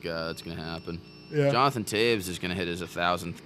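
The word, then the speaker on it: Toews: Jonathan Taves is gonna hit his 1,000th game somewhat soon, I think. I never knew how you pronounce his name. Taves. Taves. Yeah. I always thought it was Taos. Taves.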